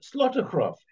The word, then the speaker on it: Slotegraaf: particular book that's in glass and orky um slaughtercraft um firstly good morning to both of you and am I pronouncing your names correctly perfectly thank you good